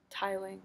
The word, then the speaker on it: tiling: of buildings um yeah no wait tiling right did I pronounce it tilling I'm so sorry you guys yeah down through the tiling okay it's the tiling of the roof I'm so sorry I said tilling so it says that